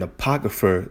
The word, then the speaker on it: apocrypha: All right, it is how it's pronounced. So the kryph, the APOCR, let me just type it in. Make sure I'm not tripping. APO, the CRYPH. Like when something is encrypted.